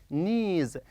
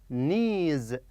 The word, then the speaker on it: knees: knees excellent yes knees knees the K is silent okay no K here so it is knees knees excellent okay what